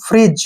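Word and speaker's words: fridge: उसको पढ़ते हैं फ्रिज फ्रिज यहां पर डी साइलेंट रखना है तो आई होप वीडियो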